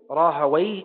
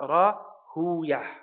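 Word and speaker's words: Rahawayh: Ishaq ibn Rahaway, and his name is Ishaq ibn Rahaway, and not Rahuyah or Sibuyah, right? Because some of the people of hadith, they actually end up pronouncing these names like the second pronunciation. They would say Sibuyah or Rahuyah, but this is inaccurate.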